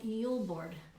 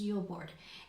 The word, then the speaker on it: julbord: So this tradition is called Julbord, Julbord, Julbord. And it's so funny because they pronounce it Jul, Yule, and in America we spell Yule, Y-U-L-E.